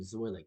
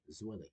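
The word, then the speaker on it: Zwilich: Yeah, think of it as Zwillig, like the name Zwillig. Yeah, her name Zwillig.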